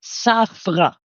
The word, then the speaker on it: Zafra: But if you want to pronounce it correct, it's Saffra. Saffra, like this.